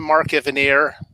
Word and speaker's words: Mark Evanier: just joining us for the first time I'm Mark Evanier that's how it's pronounced yes and I've been doing these little